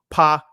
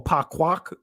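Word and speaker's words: פקח: For example, this one right here, uh, you know, pak, right? Or paquac, excuse me, which means to open, means to be observant, means to open eyes.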